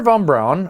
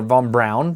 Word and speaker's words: von Braun: Now, Wernher von Braun, or von Braun, depending on what way you pronounce his name, was the main architect behind the Apollo program, which is when we went to the moon.